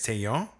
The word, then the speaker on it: Taillon: And so the actual pronunciation is Taillon. And then like of all the ways that we could have gone from there, he went Talon.